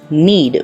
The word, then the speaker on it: knead: The first one is knead, where K is silent in pronunciation.